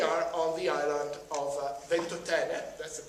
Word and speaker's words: Ventotene: uh and we are on the island of voten that's the pronunciation I there are pictures on the internet